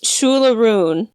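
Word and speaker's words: Siúil a Rúin: But it's Shula Rune. In the story, it's spelled Shule, and then a rune is Aroon,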